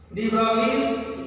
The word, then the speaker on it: de Broglie: बार बार ब्रोगली निकल रहा है, प्रोनाउंसिएशन क्या है इसका? डी ब्रोगली।